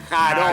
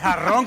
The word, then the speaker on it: jarrón: Holgazán, que se diría jarón. Jarón. Oh. Y bien pronunciado se diría Yo quería poner flores en el jarón. Claro, es jarrón que A quería.